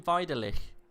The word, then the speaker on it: Vidalic: you pronouncing i always i've always called him vidalic but i've never had him tell me that it's any different so i always go with luka vidalic i will go with vitalik because yeah as soon as you said it i was like good lord yes it's quite clearly a european name so it's going to be pronounced like a v yeah but he's already